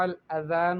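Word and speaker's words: الأذان: آپ نے غلطی کی۔ وصحیح رفع الاذان بالذال لا بالزائی، صحیح ہے، صحیح تلفظ کے ساتھ اگر اس کلمے کو پڑھا جائے تو وہ بنے گا رفع الاذان بالذال، یعنی ذال کے ساتھ، لا بالزائی، زا کے ساتھ نہیں۔ اچھا، ایک طالبہ کہتی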